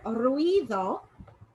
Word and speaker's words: ruido: whichever one comes second so in the word ruido we have the longer sounds coming on the eye it's going to be the strong one in this um peering off all right so one syllable is formed rui and the stronger sound is on the eye